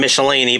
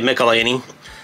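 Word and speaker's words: Michelinie: melini these to call I used to pronounce his last name michelan but I guess it's uh actually melany you know thanks to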